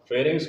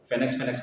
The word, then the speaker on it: pharynx: ठीक तो बता नहीं, आपने अलग बोला था, फेनेक्स कर रहे थे आप। फेरिंग्स, अच्छा वो प्रोनाउंसिएशन, ठीक है।